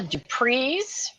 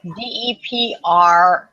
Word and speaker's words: Dupreys: So there's a couple that are currently in South Carolina, and they're called the Dupreys, but I don't think that's how you say it. It's DEPREYS.